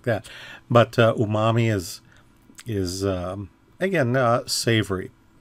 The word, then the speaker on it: umami: Okay, so technically it's pronounced umami.